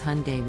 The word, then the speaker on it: Hyundai: the correct pronunciation is Hyundai with the emphasis on the first syllable people mispronounce it as